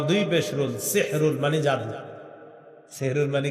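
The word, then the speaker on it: سَحْرٌ: সাহরি কি খাওয়া এই সাহরুন এটা সুন্দরভাবে উচ্চারণ সাহরুন সিন হা জবর সাহ র দুই পেশ রুন সাহরুন এটা হলো আমরা যেটা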